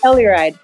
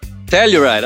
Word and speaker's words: Telluride: called niceness from uh how how is it pronounced colorado yeah colorado but telluride telluride all right i didn't know that hi welcome